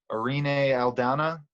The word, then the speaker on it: Irene Aldana: Irene Aldana.